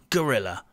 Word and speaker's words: guerrilla: and by the way it is pronounced gorilla like the ape or monkey i